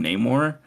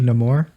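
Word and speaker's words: Namor: name the no more I keep calling him nameor but it should be no more it's no more in this Canon which I think will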